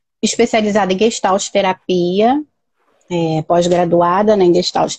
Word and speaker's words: Gestalt: A pronúncia é essa mesmo, Elisete? Gestalt. Gestalt.